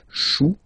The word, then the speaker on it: chou: Okay, remember, when you combine this C and H, you get the sound sh. Chou, un chou.